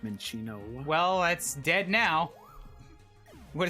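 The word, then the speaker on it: Minccino: Now I'm gonna kill the fuck out of this Mincino. I believe it's actually pronounced Minchino.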